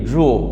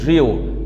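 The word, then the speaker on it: drew: সেই ক্ষেত্রে সেন্টেন্সের শুরুতে স্পিকার বসাবো, তারপর ড্রু ইউজ করব। এখানে আমি কিন্তু উচ্চারণটা করতেছি কি ড্রু, অনেকেই আমরা উচ্চারণ করি ড্রিউ, ড্রিউ নয়, উচ্চারণটা হচ্ছে ড্রু।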